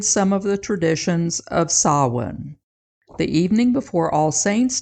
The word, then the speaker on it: Samhain: Halloween has its roots in an ancient Celtic festival of Samhain, not pronounced the way it looks.